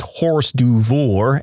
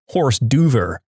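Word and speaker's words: hors d'oeuvre: exaggerated way and said I can't believe you just pronounced horse duor as horse Dover I hope that makes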